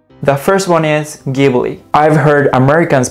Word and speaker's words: Ghibli: japanese anime industry although ghibli is pronounced with a hard g sound in italian ghibli but miyazaki said it